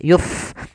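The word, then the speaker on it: يُفْسِدُونَ: ARD pada lafald maaf pada lafal Fa ada Fa yang dia sukun memiliki sifat HAM maka dibaca dengan mengalirkan nafas yuf jangan Yup dengan pa ya tapi dia dengan F gitu ya kemudian padafal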